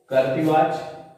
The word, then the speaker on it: कर्तृ: ध्यान दीजिए, कर्तृ का उच्चारण सही कीजिएगा। र यहां आधार है यानी रेफ है और यहां पे लिखी मात्रा, तो कर्तृवाच।